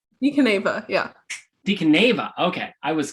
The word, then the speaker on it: Caneva: So Caneva, right? Caneva, yeah. Caneva. Okay, I was kind of not. There's a city called Caneva in modern day Italy, if that helps remember.